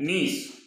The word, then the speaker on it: niece: NIECE, इसका उच्चारण थोड़ा सा भिन्न है, नीस, नीस यानी भतीजी, भाणजी।